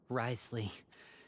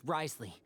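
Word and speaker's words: Wriothesley: how you sp sp how you spell Risley it's just easier that way they type all these Keys oh my gosh and it just say two syllables you are not from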